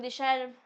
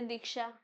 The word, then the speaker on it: दिशा: से प्रोनाउंस हो अब मेरा नाम दीशा पीपल विल से दीक्षा पढ़ सकते हैं ना हां फालतू में क्यों क्यों लगाना है तो छोटा वर्ड है बोल लो दिशा खैर कोर्टेसी के साथ